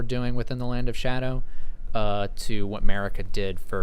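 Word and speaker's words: Scadu: I don't know if you guys know this, but it's actually not pronounced skidoo. Apparently, that is supposed to be pronounced shadow. It's like an old English spelling.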